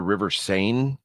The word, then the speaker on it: Seine: I don't know how to pronounce it, which is part of why I dumped the story. I think it's the River Seine.